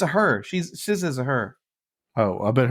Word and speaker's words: SZA: How the hell do you get SZA from X? X is pronounced with a Z sound, right?